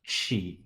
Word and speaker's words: qi: And of course the qi is pronounced as chi or chi chi.